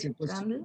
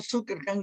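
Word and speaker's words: Zuckerkandl: Es que dice Zuckerkand, pero hay una L al final, entonces no sé cómo podría pronunciarlo. Pues, Zuckerkand. trata de pronunciarla, si no, Zuckerkand es casi como el perro de Superman, ¿verdad?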